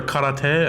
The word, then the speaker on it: karate: I took karate or karate, as you're supposed to pronounce it In Hawaii? It's proper Japanese.